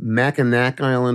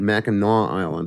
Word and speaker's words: Mackinac Island: I saw a very interesting example of this in northern Michigan on Mackinac Island, or is it Mackinac Island? It depends on how you pronounce it locally.